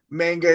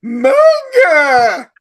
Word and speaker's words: manga: And Josh, I hate to be that guy that corrects you on pronunciations, but it's not manga, it's manga.